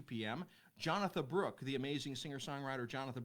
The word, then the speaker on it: Jonatha: Jonathan spelled like Jonathan, but without the N.